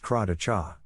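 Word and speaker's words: Kadaitcha: Crad Thai, pronounced cracha.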